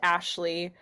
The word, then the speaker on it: Aisley: holding up um so my first name is is spelled a i s l e y but it's pronounced Ashley most people you'd think